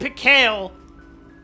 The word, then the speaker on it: Mikhail: at least pronounce it Mikhail.